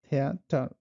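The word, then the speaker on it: Theater: TH pronounce just like tea, সো এটার উচ্চারণ হলো থিয়েটার, থিয়েটার।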